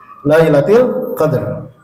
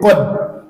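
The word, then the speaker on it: ليلة القدر: Nah, membacanya, Pak, itu rohnya harus muncul. Inna anzalnahu fi Lailatul Qadar. Rohnya harus kebaca. Kalau nggak kebaca, nanti jadi kalimatnya jadi kod. Kod itu artinya sesungguhnya.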